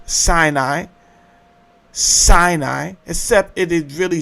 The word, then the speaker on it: Sinai: The mound of the moon god which you have sin and then it is two syllables. Sinai Sinai except it is really spelled sin and then I I is the mound.